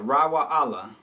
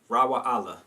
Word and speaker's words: Raiwa'ahla: Raiwa'ahla. It's almost like saying Yasharala, but it's Raiwa'ahla, and it means friend of God.